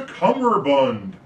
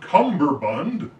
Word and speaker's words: cummerbund: goes around your waist it's a cummerbund not cumberbund i'll spell it out